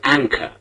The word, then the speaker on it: anchor: The final R in the word is not pronounced.